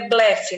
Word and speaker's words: blefe: É blefe, não é? Timbre aberto.